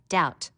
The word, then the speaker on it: doubt: learn how to spell doubt notice the silent b foreign a g that